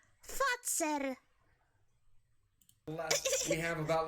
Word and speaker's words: Fazer: No, he said it wrong. It's a Fazer. The company name is a Fazer. Not Phaser, not Feezer, Fazer.